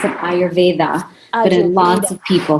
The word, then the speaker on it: Ayurveda: imagine am i pronouncing it right yes I pronounce an Ayurveda a lot of people say I are V dot here okay perfect so dr.